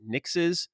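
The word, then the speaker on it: Nixxes: house mark uh they acquired i believe it's pronounced nix's yep um and then also it looks like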